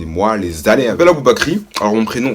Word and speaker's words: Aboubacry: Je m'appelle Aboubakry. Alors mon prénom s'écrit A-B-O-U-B-A-C-R-Y.